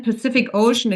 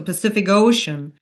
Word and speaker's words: Pacific Ocean: And then Pacific Ocean again is a name, and we learned with names we always stress the second word. So Pacific Ocean, plane crash, Pacific Ocean, Pacific Ocean.